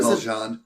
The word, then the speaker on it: Valjean: Valjean. Oh, that's how you pronounce it?